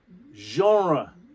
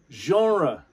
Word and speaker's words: genre: another french word so instead of saying genre genre okay genre and it's oh the french through your nose oh genre it's a french sounding word because it is a french word genre and that means